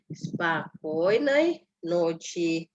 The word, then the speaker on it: спокойной ночи: Ini penekanannya di O yang di tengah ya. Jadi bacanya spokojnej noci.